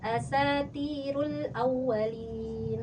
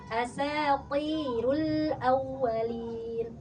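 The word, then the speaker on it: أساطير الأولين: Tadi kakak bacanya gini, asatirul awwalin. Seharusnya kalau to pangkalnya naikin, istilah asatirul awwalin, pi ya, asatirul awwalin, seperti itu ya.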